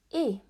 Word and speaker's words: et: Et. Et as a silent T, and it's pronounced, and it means and.